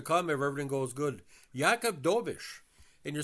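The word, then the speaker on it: Jakub Dobeš: for years to come if everything goes good yakob doish and you're saying to yourself who's yakob doish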